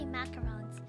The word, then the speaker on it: macaron: There's macarons like macahol which is basically it's spelled m a r uh sorry m a c a r o n. That's a macaron. But I think macaroons are different. They're different than than than macarons.